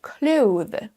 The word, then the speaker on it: clothes: Ce mot se prononce normalement clothes, clothes, un son TH, et ensuite on rajoute le son Z pour faire le pluriel.